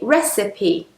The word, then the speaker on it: recipe: And most people says or receipts, but it should be recipe. So, it's very irregular, this word. Normally, when an e is on the end, we don't pronounce it, but in this case, we do.